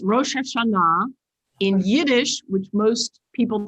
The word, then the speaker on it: Rosh Hashanah: Pronounce it for us, Gaylia. Is it Rosh Hashanah or Hashanah or? In Hebrew, it's Rosh Hashanah. In Yiddish, which most people think is English, is Rosh Hashanah.